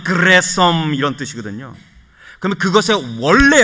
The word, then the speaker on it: 게르솜: 근데 게르솜 할 때 이 이름의 원래 히브리 발음은 그레솜 이런 뜻이거든요.